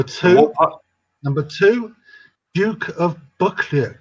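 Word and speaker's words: Buccleuch: million acres number two number two duke of buckley how do you how do you pronounce that booklet b you double c l e u c h a clue from the scott family all right that's because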